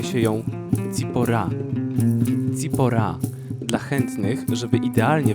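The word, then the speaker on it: צִפּוֹרָה: imieniem biblijnym jest sephora żona mojżesza po hebrajsku wymawia się ją z pora pora dla chętnych żeby idealnie wymówić to imię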